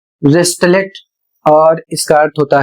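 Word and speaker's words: wristlet: अगला शब्द है डब्ल्यू आर आई एस टी एल ई टी और इसे पढ़ा जाएगा वेस्टलेट और इसका अर्थ होता है कंगन।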